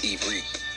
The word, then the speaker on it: Ivrit: The true pronunciation is Ivrit.